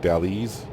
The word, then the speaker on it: Dalles: Every time I see that, I always want to pronounce it Dallas, but I'm pretty sure it's like Dalles or something like that.